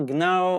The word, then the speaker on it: gnaw: So we don't pronounce G. And Germanic action words, Germanic action words such as you say, gnarl, gnaw, or gnesh, all start with silent J, like